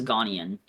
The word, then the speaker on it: Ghanaian: I think it's Ghanaian.